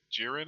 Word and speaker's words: Jiren: war the Warrior from Universe 11 which is jiren is how you pronounce his name Mike SE super right um